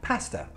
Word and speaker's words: pasta: Pasta finishes in a schwa sound, but there's no R when you spell it. It's just a schwa sound, pasta.